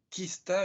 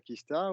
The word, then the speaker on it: Qista: un mot assez court cinq lettres qui peut-être prononcé en anglais même en provenance de l'Asie on arrive à dire Kista ou et en Europe